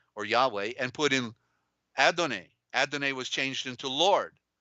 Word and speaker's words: Adonai: Yahweh and put in Adonai. Adonai was changed into Lord, right? But Adonai means sunrise. The A, dawn. Dawnay. The A, first A is silent. Adonai, the A is silent.